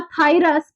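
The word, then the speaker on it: Phthirus: Agent क्या है आपका, थायरस, पी साइलेंट रहेगा, थायरस प्यूबिस, ठीक है।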